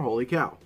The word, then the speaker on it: Wholly Kaw: you know what Abraham how do you pronounce it holy cow or holy cow and he said you know it was interesting because a lot of people do say it differently but it is actually holy cow and the reason behind